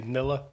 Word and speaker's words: Nila: So the reason I say that I pronounce it NILA because my daughter's name's Isla. But could be Neela, could be Nilla.